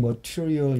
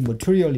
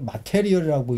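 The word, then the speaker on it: material: 교재론을 제가 강의하는데 교재론을 그러닝 머티리얼 이렇게 발음하거든요. 근데 아이들이 M a t e r i 이런데 이게 머티리얼 이렇게 발음되는데 이걸 마테리얼이라고 읽어요. 서울대 영업과 학생도 그런 애들이 있어요. 마테리얼입니다. 이게 제가 보기엔 잘못된 한국의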